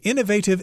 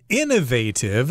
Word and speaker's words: innovative: hasn't been done before I've heard this word pronounced Innovative I think some people in England pronounce it that way but the North American pronunciation is innovative and these are examples